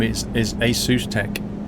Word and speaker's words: ASUS: You can pronounce it Asus, Asus, or Asus. They don't mind to be honest. They themselves pronounce it Asus, but you can say Asus, asus. UK, it's quite common to say ASUS, but um over there they say ASUS, I think.